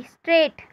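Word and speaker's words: straight: एस टी आर ए आई जी एच टी, स्ट्रेट, कौन सा sound नहीं आ रहा है? जी का।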